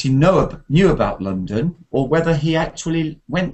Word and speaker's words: London: london london london yes the first vowel is ah like in up because we have an o a letter o often has um the sound ah like in love and come and the second one is a schwa sound like london london okay